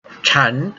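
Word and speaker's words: 禅: all including the disabled Qian is the Chinese pronunciation of Zen this book is my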